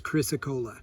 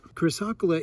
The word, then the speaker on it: Chrysocolla: So my preferred pronunciation is Chrysocolla, but most would correct me and say it's Chrysocolla.